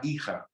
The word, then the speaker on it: hija: The son, el hijo, the daughter on the other side is la hija. Remember the H is silent, and the J can be an H if you want.